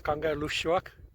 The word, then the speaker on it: Kangerlussuaq: was good luck but they corrected me it's Kangerlussuaq so that's how it's pronounced and there are 45